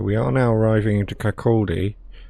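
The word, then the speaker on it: Kirkcaldy: are now arriving into Kaki I called it kalii that's my incorrect pronunciation so cord get those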